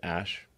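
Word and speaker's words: Æ: So, I mean, it's just X, the letter X, and then the AE is like pronounced Ash.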